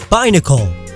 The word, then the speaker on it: Binacle: Binacle, like bicycle or binoculars.